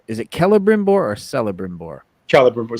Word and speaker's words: Celebrimbor: Celebrimbor. C's like that are a hard C. Okay, like Celtic. Okay. Right. Like Celtic.